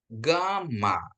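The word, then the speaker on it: γάμμα: Alfa, beta, gamma ya, gamma ya. GH dia ya, lebih ke GH ya, ke GH ya, gamma ya.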